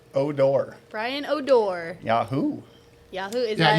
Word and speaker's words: O'Dor: Brian how do you say your last name oh door Brian odor Yahoo Yahoo yeah you guys might